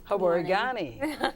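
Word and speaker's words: Habari gani: Habarigani.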